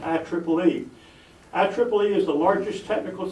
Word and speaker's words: IEEE: of electrical electronics Engineers quite often referred to by its initials I followed by three E's and pronounced I Triple E IEEE is the largest